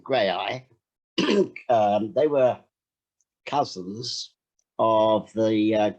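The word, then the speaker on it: Graeae: My name is Nabil Shaban, actually, and also it's grey eye, we pronounced it as Grey Eye, although it could be pronounced Grey Theatre Company.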